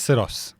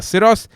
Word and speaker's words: Syros: obviously the Kia cyos oros how do you pronounce that that's SOS SOS the Kia SOS the Land Rover Defender OCTA which I drove